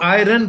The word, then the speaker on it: iron: हम इसको आयरन कहते हैं, आयरन IRON कहते हैं. आयरन जो है वो इस्तरी है, लफ्ज वही है, उस स्पेलिंग वही है, प्रोनाउंसिएशन डिफरेंट है.